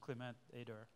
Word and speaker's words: Clément Ader: Who here has heard of a guy called Clément Ader, or, you know, English pronunciation, Clément Ader?